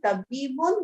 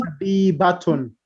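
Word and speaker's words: طبيبة: Hazihi tabibun wa tilka mumarazatun. Incorrect. Tha marbuta at the end. Hadihi tabibatun.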